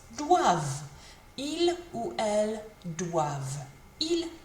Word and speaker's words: doivent: V in it, and remember the ENT is silent, so it sounds like this. Doivent.